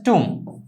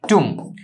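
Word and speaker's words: tomb: তাহলে অ্যাডজাস্ট, মানিয়ে নিয়ে, ইন দ্য টুম, এটা উচ্চারণটা হচ্ছে টুম, বটা উচ্চারণ হয় না, বিটা উচ্চারণ হয় না, এম আর কি, টুম।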